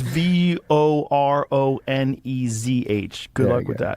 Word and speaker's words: Voronezh: It's Voronezh.